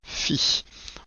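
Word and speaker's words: phi: quand même entre parenthèses ça se prononce fille voilà on avait déjà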